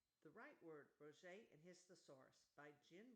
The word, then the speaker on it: Roget: Peter Mark Roget, pronounced Roget, 1779 born, beginning, baby, infant, tadpole, child, youth,